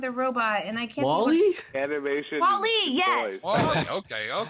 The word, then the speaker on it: Wall-E: Well, it's okay, because I guess he's called Wally, and I always call him Wall-E, because that's how it's spelled.